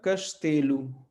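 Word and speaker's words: castelo: तो सी से कश्तेलु, कश्तेलु, कश्तेलु, कश्तेलु। तो एक बार फिर से, ये शब्द जो है ओ पे खत्म हो रहा, तो लेकिन ये ओ नहीं रह के क्या हो जाएगा? ऊ।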